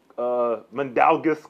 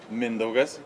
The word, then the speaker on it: Mindaugas: Say your full name. Mindaugas. Mandalgus, I got that one. Not Mandalgus.